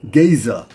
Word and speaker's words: Gaza: Gaza is actually pronounced Geza and could easily be the origin of the present Giza.